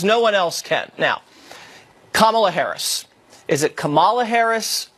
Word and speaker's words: Kamala: going to end it Kamala is it common it's Cibola that is correct not okay Kamala like like the punctuation moving on who is